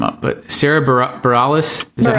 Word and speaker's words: Bareilles: I mean, especially if you're taking the, and I always mess her name up, but Sarah Bareilles, is that how you say it? Okay. Yeah. Yes, Bareilles.